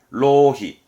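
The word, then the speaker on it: 浪費: 뭐 발음은 로히.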